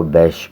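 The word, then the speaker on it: Bysshe: کا ہے پیرسی بیش۔ یہ گرین ان کے ساتھ جو لکھا گیا ہے یہ اس کا تلفظ ہے، تو اس کو بیش پڑھیں گے، شیلے۔ کنٹیکسٹ ہے اس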